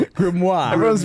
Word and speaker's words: grimoire: Grimoire. Spell it. G r i m o i r e. Grimoir. Grimoire. Yeah. Yeah. Grimoir. Say it like that.